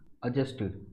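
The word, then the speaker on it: adjust: teacher has टू बी अजस्ट देखिए यह जो डी है ना इसमें यह साइलेंट होता है तो इसलिए इसको बोला जाता है अजस्ट टू फिट the mind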